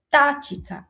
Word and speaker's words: tática: Tática. Olha a tática. Também tem a antepenúltima sílaba mais forte. É uma proparoxítona.